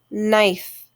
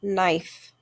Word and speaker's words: knife: is silent next word knife just like knack and knob the k is silent in knife next word knit once